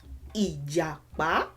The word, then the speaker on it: ìjàpá: Why is it pa, me? Because this has a crush. I feel like somebody already knows the answer. Because this has a crush on this. So it's me, pa, ìjàpá, ìjàpá.